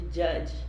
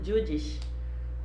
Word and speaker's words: judge: Aí a pronúncia estranha de judge, né? Que é uma palavra tão fácil, judge. E ele acabou complicando a palavra, né? Falou judish. Falou uma palavra bem estranha aí.